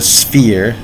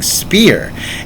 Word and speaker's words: sphere: the way of the sphere s-p-h-e-r-e i know some of my pronunciation was off and it sounded like i was saying spear s-p-e-a-r but it's s-p-h-e-r-e that's important the way of the sphere